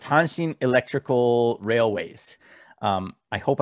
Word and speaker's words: Hanshin: so the tigers are the hansen tigers and hanshin is actually is actually the name of the